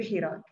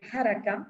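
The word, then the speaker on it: حراك: d'adopter définitivement celui du Hirak. Un mot sur la prononciation de ce terme, dérivé de verbe simple haraka, se mouvoir, hirak signifie mouvement. Toutefois, le terme standard est harak, par un A, le fatha.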